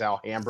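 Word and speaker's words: Alhambra: which is near here and that's how they pronounce it here is alhamra sled where's here where's here for listeners oh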